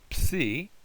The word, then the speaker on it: psi: Notice a PS sound together. Psi. Now that looks a little bit like a key, only the top of the letter, it's open on top instead of a circle. But that's the psi. Like our word lips, if that helps you get the sound of it.